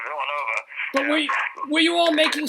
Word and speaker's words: Villanova: team from Villanova, and he pronounced it Villanova. Oops. Like it was a ballet dancer. We had to have the phone from him and try to that's Villanova.